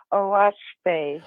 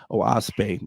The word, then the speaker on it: Oahspe: It's spelled OAHSPE, and it's pronounced OASPE. OASPE.